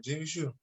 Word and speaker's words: Gene Shue: I'm sorry, Gene Shoe. He had a lot of people go pro. Not I a did lot of say it them. right. Okay, I did say it right, Gene Shoe.